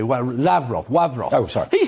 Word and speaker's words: Lavrov: mr rav ross lavrov now i'm pronouncing it in the russian way where lavrov sorry he says he